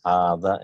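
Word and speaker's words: هذا: So hadha and zalika is pronounced as hadha and zalika, but alif is not written.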